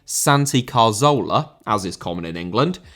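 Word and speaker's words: Santi Cazorla: his name Santi Carzola, as is my best effort to pronounce his name correctly as Spanish speakers would, I just get called a melt by English speakers down below in the comments.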